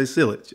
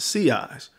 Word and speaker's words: sillage: going when you see it you're gonna say sealage all right I get it that's how it looks all right but it's pronounced sea eyes all right and CIS that or that scent